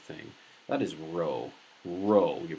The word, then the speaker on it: rho: pee I'm saying the wrong thing that is Rho Rho you pronounce that Rho naught P you want to